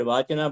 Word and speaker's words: vachan: Other than Vak, Lalla Ded has also used the word Vachan, that I am sure is the word Vachana, but pronounced as Vachan in Kashmiri.